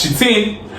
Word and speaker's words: chitin: We have the chitin, which some people pronounce as chitin, and we also have glucan, as well as mannoprotein.